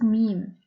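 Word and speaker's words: ميم: position in an android meme is similar to the me of man and with a harikat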